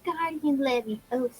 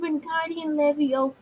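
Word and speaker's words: Wingardium Leviosa: It's not guardian levy. It's guardian levio.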